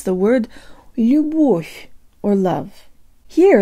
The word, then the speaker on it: любовь: Here, let's borrow from Welsh. I think there's this really cool double L sound they have, like an L with a really high tongue position, but they breathe through it with no vocal cord vibration, as if it were an H.